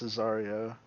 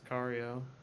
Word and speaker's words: Sicario: It's Cesario, Is I it believe. Cesario? I believe. I'm pretty sure it's Sicario.